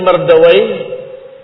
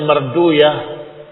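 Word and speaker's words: Mardawayh: dan juga ibn ibni Mardawa kadang mereka membacanya marduyah tetapi kita membacanya Mardawa atau asal katanya Mardawi tapi mereka membacanya Marduyah.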